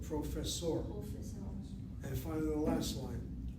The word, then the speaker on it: פרופסור: לא, אני לא סטודנט, אני פרופסור ואת. Okay, you got that right. The word professor is too anglicized. I need professor. פרופסור.